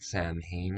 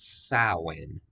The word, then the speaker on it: Samhain: It's not Samhain, it's Samhain.